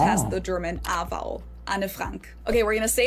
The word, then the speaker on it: Anne Frank: So instead of it just being one syllable and it's two syllables an and then the last name just has the German a vowel anafrank.